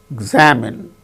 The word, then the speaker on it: examine: See, for instance, examine, examinee, examine. In the case of the word examine, second syllable gains stress.